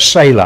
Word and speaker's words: Selah: And he put that word Selah after it. Some pronounce that Selah. I don't have any problem with either pronunciation. You can pronounce E's and A's in different ways.